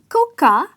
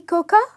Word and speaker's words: cocoa: call it cocoa because the pronunciation is coco and the "a" is silent.